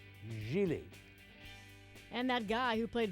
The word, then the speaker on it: Gigli: screen idols Ben Affleck and Jennifer Lopez it's pronounced Gigli and that guy who played Vinnie Barbarino on